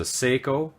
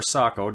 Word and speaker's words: Sako: and I absolutely love it this is a Seiko or Saco depending on how you want to pronounce it TRG 22 what this is a